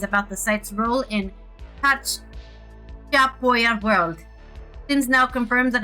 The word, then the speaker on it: Chachapoya: Chachapoya, literally that's how you say it.